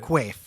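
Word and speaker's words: Quaife: And pronounced Qua. Okay, got it. Qua.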